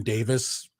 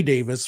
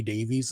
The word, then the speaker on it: Davies: also one of my pet peeves with American pronunciation is with the surname Davis in the British sense um I remember James Hetfield was inducting Ray Davis from the Kinks into the Rock and Roll